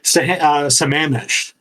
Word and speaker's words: Sammamish: I'm trying to keep the pronunciation here. It's Lake Sammamish.